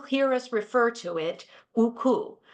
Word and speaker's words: UCU: us refer to it uku using the Ukrainian pronunciation of the acronym the work that we